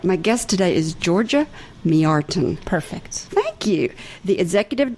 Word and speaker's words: Mjartan: today is Georgia Georgia how do you say your last name just Georgia you're not gonna make me say ok I'll make you say it Georgia me artin oh all right my